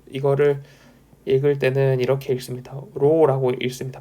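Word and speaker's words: ρ: 로라고 읽습니다.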